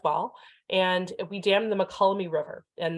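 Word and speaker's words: Mokelumne: and we damned the makolami river and that's how you pronounce that word mccullomy and we basically took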